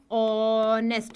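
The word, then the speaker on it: honest: वो मैंने क्या बताया ये ह जो है वो साइलेंट रहता है स्वर की ध्वनि से आरंभ होता है जैसे एन नेस्ट क्या हो गया ऑनेस्ट मैन तो एन इज करेक्ट क्योंकि ये एच जो है वो साइलेंट हो गया एन आर का मैंने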